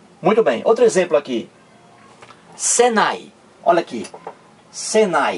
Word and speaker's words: Senai: há uma diferença para SENAI em Senai eu não pronuncio cada letra separadamente não uma uma não eu não digo senai9 eu digo Senai Olha aí entrou no